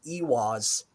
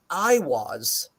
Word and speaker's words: Eihwaz: this rune, they say Eihwaz, but it's worth noting whether you spell it with an EI or just an I, it's still a double E sound.